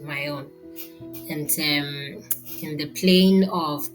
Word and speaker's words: Maon: All right, left from Saul, and then so David at that time and his men were at Maon, so I pronounce it Maon, and in the plain of the south of Jeshimon.